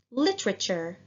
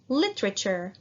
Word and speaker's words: literature: word literature that's correct the group of letters t-u-r-e are pronounced cher please repeat now let's say the whole word together literature literature literature very good now what